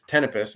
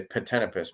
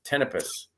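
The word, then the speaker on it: Ptenopus: say it but it's tpus it starts with a P but the p is silent it's PT n o pus so a lot of people say pipus but it is tpus and this is yeah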